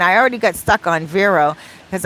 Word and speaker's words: Vero: already got stuck on vero because i wanted to pronounce it as verro v-e-r-o vero i want to pronounce it as in spanish but then you got